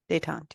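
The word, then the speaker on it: détente: I can't pronounce it. Detente? I don't know. Detente? Detente, yeah.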